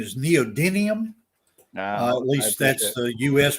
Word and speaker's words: neodymium: you as in my class too the correct pronunciation is neodymium at least that's the u.s production pronunciation in